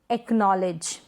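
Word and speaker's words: acknowledge: फिर है पक, एक्नॉलेज, पक, एक्नॉलेज, लॉक, ब्लॉक, पक, एक्नॉलेज। यहाँ पर हम सी को प्रोनाउंस नहीं कर रहे।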